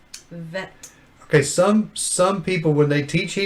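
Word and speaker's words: ב: we go this is a different letter this is a this is the letter vet say vet vet okay some some people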